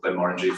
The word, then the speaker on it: Glenmorangie: So the location that just around the corner from a small distillery called Glenmorangie, famous. The rhymes with orange.